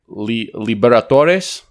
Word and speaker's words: Libertadores: It's actually Libertadores, I believe is how you say it in Spanish.